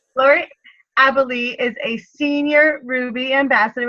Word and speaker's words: Abele: It's Abele. Abele. I just call you Laurie Abel. That's fine. Everyone does. Laurie Abele is a senior Ruby